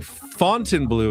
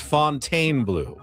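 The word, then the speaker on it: Fontainebleau: He's saying Fontine Blue is pronounced Fontaine Blue. Please make sure to always say Fontaine Blue.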